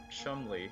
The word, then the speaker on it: Cholmondeley: Broken Sword three there's a character named professor Chumley who spells it like that and there's a sort